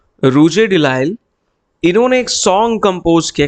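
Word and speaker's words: Rouget de Lisle: ठीक है, तो आपको इसकी थोड़ा प्रोनाउंसिएशन मुश्किल है, इसे ला मार्सियस कहते हैं, इसे रूजे डिलाइल कहते हैं।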